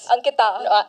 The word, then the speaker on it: Ankita: Ankita. Yeah, pronounced it right this time.